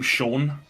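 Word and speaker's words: Siôn: you know the name Sha? Yeah. Um, the Welsh, there's like a Welsh version of that and you would spell that S I O N. And that's Sha in in Welsh.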